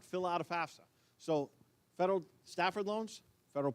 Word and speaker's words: FAFSA: And you'd be amazed at how many people butcher the pronunciation of FAFSA. It's actually, I've had somebody call it FAGSFA, and it's really funny.